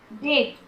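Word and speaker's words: debt: फिर डेट मतलब कर्ज, यहाँ भी बी का साउंड नहीं हो रहा।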